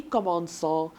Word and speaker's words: commençons: To make it soft, it will be commençons.